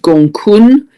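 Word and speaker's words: Gonggong: I understand that's pronounced Gong Kun, but it's spelt Gong Gong.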